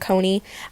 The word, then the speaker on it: Coni: wrong their name wrong it's not Donnie and Connie it's Dhoni and Kony I don't really care